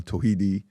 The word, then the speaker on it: Tawhidi: Today we have a special guest with us, Imam Muhammad Toidi. Tohidi Tahawidi depending on how you pronounce it. I'm from Iran, Tohidi.